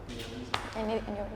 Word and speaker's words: Minneapolis: That's how you pronounce it. Minneapolis.